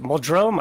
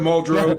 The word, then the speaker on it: Muldrow: Is Muldrow? I'm not massacring your name, am I? No, you're good, Muldrow. Just how it's spelled.